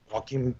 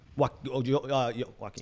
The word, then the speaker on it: Joaquin: Joaquin. Joaquin. Can I stop talking? Yeah. Julian and Joaquin. Yeah, I know I'd be phonetically correct.